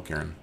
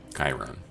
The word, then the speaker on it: Chiron: I can use little Karen um Chiron not Karen Karen are people who